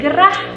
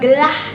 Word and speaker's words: gerah: Misalkan katanya adalah gerah, maka kita harus ucapkan secara jelas huruf R-nya menjadi gerah, jangan gelah.